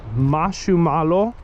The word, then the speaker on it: marshmallow: Because in Japanese it's, I think it's Mashumalo. So it's malo instead of mellow.